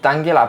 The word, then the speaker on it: Tangela: Tangela, que pronunciem Tangela, però en català hauria de ser Tangela.